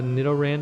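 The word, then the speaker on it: Nidoran: there we go and now we've got a Nidan to face and I'm finally pronouncing that correctly and that appears to be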